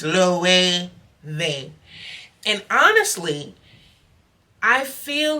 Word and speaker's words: Loewe: I thought it was Low, but it's Loewe. It's a Spanish brand, but the brand name is German. So the W actually has a V sound. Loewe.